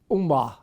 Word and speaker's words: Ummah: This one, The Nation or the Ummah. Did I pronounce that right?